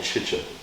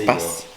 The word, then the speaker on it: Tsitsipas: You're saying Chicha. Tsitsa. Tsitsipas. There you Tsitsipas. A T and an S is...